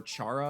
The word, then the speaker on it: Chara: Or some people pronounce it Kara or Chara, I do but say it Kara. seems to just be short for character, so that's the pronunciation.